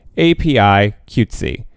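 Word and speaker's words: APIQWTC: asian sisters in solidarity also asian pacific islander queer women and transgender community pronounced api cutesy which provides resources and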